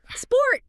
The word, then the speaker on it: sport: Sport! Sport. Perfect. There is no A sound before the snake. It's just the snake. Sport. One clean syllable.